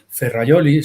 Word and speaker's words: Ferrajoli: Ferrayoli se escribe Ferrajoli.